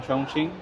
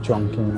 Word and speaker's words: Chongqing: foothills of mountains in Chongqing. Sorry, not Chongqing. I'm pronouncing it wrong again and again. There's a Q there, so I always end up saying it. Chongqing, it's not Chongqing, it's Chongqing.